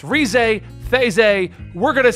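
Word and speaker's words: Reze: But if you go down to the Japanese pronunciation, because they pronounce their R's differently than the rest of us, it actually comes up as Theze.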